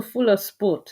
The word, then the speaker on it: Fula Sport: You must go to Fuller Sport. It's spelled FULA Sport.